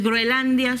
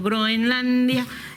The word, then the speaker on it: Groenlandia: Bueno, aquí ya me han corregido en el chat que no se dice eh que no es Groelandia, sino Groenlandia.